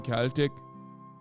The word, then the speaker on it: Celtic: Just an FYI, it's a hard C in Celtic.